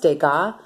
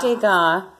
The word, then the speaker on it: Degas: But here, so we learned about Degas. Let's just say Degas. Because the S is silent.